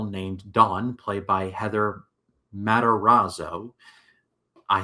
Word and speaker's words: Matarazzo: seventh grade girl named Dawn played by Heather Matarazzo.